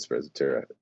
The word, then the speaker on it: sprezzatura: Something about, how do you spell that? sprezzatura.